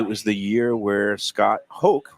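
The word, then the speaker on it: Hoch: and it was the year where Scott Hoke, rhymes with choke, missed like a 3-foot putt to Well, win.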